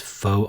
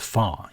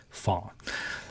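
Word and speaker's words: phở: on Monday, Chinese stirfries on Tuesday, authentic Vietnamese foe on Wednesday. Actually, the word is pronounced far. Yeah, far.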